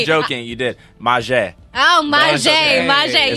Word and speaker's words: Mazhe: You said my name wrong. It's okay. Say it for me. I'm not joking. You did. Mazhe.